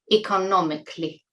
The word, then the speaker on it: economically: Many of you make this mistake of pronouncing 'C-A-L-L-Y' as 'kally'. It's 'cli': economically.